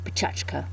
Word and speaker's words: Pecha Kucha: they're Japanese and actually if I was pronouncing them more properly it would be pachka it's a 6 Minute